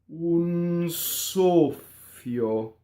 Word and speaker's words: soffio: Double F, closed O on the stress. I hear soffio a lot. Wrong. Soffio.